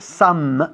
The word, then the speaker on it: some: Fijaros que estoy diciendo siempre some, exagerando el sonido de la M al final. Some, porque no decimos some.